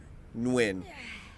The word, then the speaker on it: Nguyen: That's the only name that I know how to pronounce properly because of a skateboarder, and it's Nguyen. Nguyen.